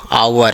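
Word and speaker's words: hour: ये क्या है, एच साइलेंट, आवर, है ना, तो ये भी क्या कहलाएगा, दी, नॉट द, है ना।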